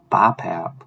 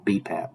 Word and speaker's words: BPAP: exhalation phases of breathing bipap or bpap technically is how you say it bpap is a